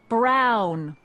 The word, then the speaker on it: Brown: bill to a tee that's Emmett Brown rhymes with clown which I'm beginning to